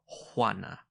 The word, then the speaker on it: Juana: "Juana," she said, and she pronounced it Juana.